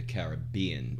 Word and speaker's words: Caribbean: I go with Caribbean, but I'd like to be able to say the Caribbean with the emphasis on the bean.